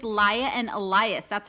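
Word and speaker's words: Laia: spelled like l-a-i-a oh li i think it's lia and elias that's how they pronounce it i'm like why did you pronounce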